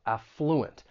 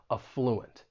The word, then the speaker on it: affluent: when pronouncing this word the stress is going to be on that first syllable affluent now that is the way you're going to find it in most English dictionaries however you may hear some people stress that second syllable and in that case that first syllable is then going to have that schah sound that uh sound affluent you may hear both